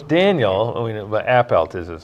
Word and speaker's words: Appelt: So it's Daniel, but Appelt is how you say his last name.